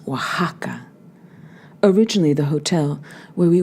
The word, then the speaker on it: Oaxaca: by De Luca Dino Oh a X a C a is pronounced Oaxaca originally the hotel where